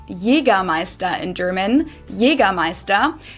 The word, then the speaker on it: Jägermeister: By the way, from shoes to alcohol, this is pronounced Jera Meister in German. Jeramea. English speakers usually say Jägermeister, which is pretty much the same, just with a pretty thick accent.